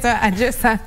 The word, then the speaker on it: Ajo Sanga: Okay, love how you pronounce it. Mimi naisema vibaya. Unaisema aje? Ajo Sanga.